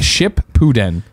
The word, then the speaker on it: Shippuden: It's pronounced ship pooden.